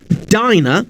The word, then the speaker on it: diner: Take the words diner and dinner. In dinner, the I is pronounced short. It's I. But in the word diner, the I is pronounced long.